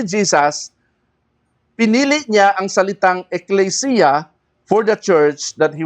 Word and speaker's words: ecclesia: Para mas maintindihan natin, ang church, the word church came from two Greek words, ecclesia at saka kyriakon, doma. Okay? Ang ecclesia, ang pronunciation talaga niyan, ecclesia.